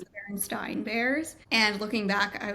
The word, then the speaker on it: Berenstain: Going along with the children's fairy tale books, this was not really a fairy tale, but the Berenstain Bears is actually pronounced the Berenstain Bears.